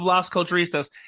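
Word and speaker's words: Las Culturistas: I can't say it how do you say it l it's lost cult you were doing amazing it's literally ladies and gentlemen it's Mr Matt Rogers yes it's me one half of lost culturistas for all the people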